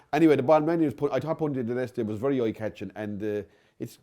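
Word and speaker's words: Punta Del Este: Punta dell'Este. Punta dell'Este. Can you spell it first? Punta. Yeah. Then a break, obviously. Del, as in Del Boy, D-E-L. And Este, E-S-T-E.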